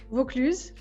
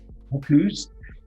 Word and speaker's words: Vaucluse: Am I pronouncing that correct? Vaucluse. Vaucluse.